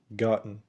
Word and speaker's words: gotten: وبرضو أكيد لاحظت إن آخر كلمة اتنطقت gotten. gotten مش gotten.